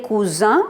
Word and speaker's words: cousins: Masculin pluriel cousin, on ne prononce pas S.